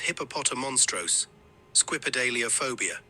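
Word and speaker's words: hippopotomonstrosesquippedaliophobia: total and has 14 syllables okay the correct pronunciation of this word is hipopotam monstros squid alop phobia hipopotam monstros selop phobia hipopotam monstros sidelobe of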